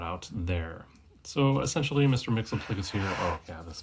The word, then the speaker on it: Myxlplyx: And you see the pronunciation John Byrne went with here. I will always call him Mr. Myxlplyx because that's essentially how I learned it.